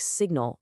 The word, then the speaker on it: signal: That silent G in sign is what helps connect it to related words like signal or signature, where all of a sudden the G is pronounced.